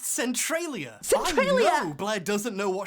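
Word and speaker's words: Centralia: Centrolia. It's actually pronounced Centriia.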